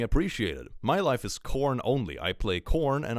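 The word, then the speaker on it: Khorne: I suppose it's between salamanders and corn. Maybe, you know, helpful lizard boys or blood for the blood god. It's a bit of a contrast, isn't it? Corn. Now, it's spelled with a K. Corn.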